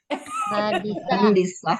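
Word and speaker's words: مهندسة: Muhandisah. Muhandisah. Iya. Pokoknya tinggal ditambahin tamar butoh ujungnya tak. Muhandisah. Muhandisatun. Aslinya kan gitu ya. Muhanditatun. Tanya dimakan. Muhandisatun. Dia tanya disukunkan. Jadi bacanya gimana? Muhandisatun dibuang taknya bunyinya.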